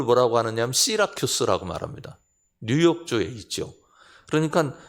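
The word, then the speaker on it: Syracuse: 그 발음을 뭐라고 하느냐면 시라큐스라고 말합니다.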